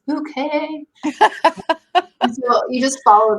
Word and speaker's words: Bucket: show about this woman who her last name is spelled Bucket, Bucket, but she insists that it's Bouquet.